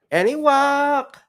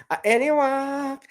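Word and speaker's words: Anahuac: place is okay so this is how you pronounce it anok any walk any walk I see here so it is the alligator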